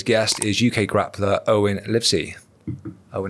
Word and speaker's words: Livesey: Your surname, mate, is it pronounced Livesey? Livesey, yeah. Livesey. Fucking hell, mate. One of the first people ever that said it right.